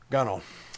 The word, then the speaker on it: gunwale: It's pronounced gunwale, right? Yeah. Gunnel.